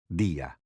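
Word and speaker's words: día: listen to the way you would say day dia let's hear that again dia how do you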